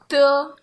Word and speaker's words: de: You don't say do here, you say de.